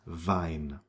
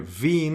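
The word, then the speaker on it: Wien: It's vine. And the combination I E is pronounced like E. It's a long e vinpel z lead. All right. So you can hear vin as opposed to vine.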